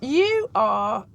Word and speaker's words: Urquhart: Urquhart.